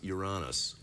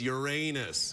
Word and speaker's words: Uranus: then I said no it's actually pronounced you're honest and then my son goes no it's Uranus it was like the gift